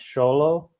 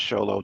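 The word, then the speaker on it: Xolo: But I thought I think it's pronounced Cholo, like it's almost Cholo, but it's like shh. Yeah, I thought it was Sholo too, because he's on what's it called, the Karate Kid, Cobra Kai.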